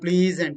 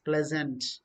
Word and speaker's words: pleasant: not pleasure it's pleasure it's not pleasant it's pleasant next word you come getting bray we are a bottle punch please and no no no it's pleasant p-l-e-e okay play zen zen